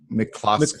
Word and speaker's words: McCloskey: McCloskey.